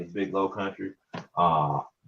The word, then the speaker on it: Kuntry: don't know me my name is big low country uh it's spelled big low and it's bill k-u-n-t-r-y i